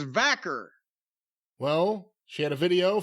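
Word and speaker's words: Vaquer: that in any way I said Stephanie VOR if that is indeed how you pronounce her name v i I think it's vaker well she had a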